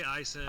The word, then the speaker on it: IHSEN: You say like IHSEN, don't you? We say IHSEN. IHSEN.